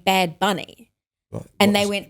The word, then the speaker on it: Bad Bunny: Because someone corrected me for saying Bad Bunny. And they went, the correct pronunciation is like babuni.